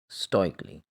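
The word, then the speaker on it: stoically: स्टोइकली, यानी हम इसमें ए साउंड प्रोड्यूस नहीं करेंगे।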